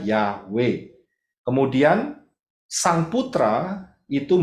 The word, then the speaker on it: Yahweh: Baca dari kanan, Yod, He, Waw, He. Bacanya Yahweh.